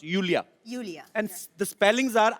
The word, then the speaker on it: Iulia: pronounce यूलिया. Julia. And the spellings are IULIA. So I Thank क्यों God you मतलब? know. I mean why I? Thank God. Everyone is calling me Lulia, Lolia.